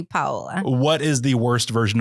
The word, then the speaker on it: Paola: So it's technically Paola. Okay. But I let people say whatever they want. Like I've gotten used to over the years having said so many different ways. So, but it would be technically Paola.